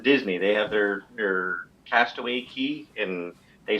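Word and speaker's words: Cay: They have their Castaway Key, and they spell it C-A-Y, and I thought, yeah, we'll do a little bit different than the Florida Keys.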